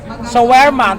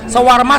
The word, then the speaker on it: shawarma: Showerma ang tawag bigkas nito. Ano bang tamang bigkas? Sawarma.